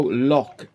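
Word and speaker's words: Locke: Oh, Lock. L-O-C-K-E. It's a bit like Locky and Key, like but it's spelled lock with an E on the end of it.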